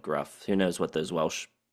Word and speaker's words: Gruff: of the front man Gruff Reese or Griff Reese I don't know I've heard people on the VC call him Griff even though it's clearly spelled Gruff who knows what those